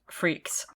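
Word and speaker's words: Freakx: On May 9th, 2012, D.Bace attempted yet another venture by forming a new unit called Freaks. Spelled freak with an extra X on the end, but it's pronounced Freaks.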